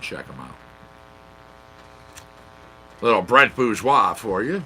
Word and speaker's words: Bourgeois: the way and he put out the proper pronunciation it was like it would be like booze and then why bourgeois my apologies truly not meaning to say it